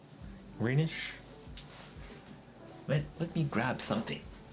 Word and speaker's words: Greenwich: And W is silent. What? Greenwich Meridian time zone? Oh, Greenwich? It's not Greenwich? Greenwich? Greenish?